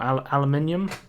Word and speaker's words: aluminium: So there's like a blue circle here, which has aluminum on it, or aluminium on it, depending on how you say it.